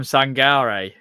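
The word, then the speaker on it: Sangaré: Ibrahim Sangare, as I've been told, that's how you say his name from when you listen to PSV fans say it as well.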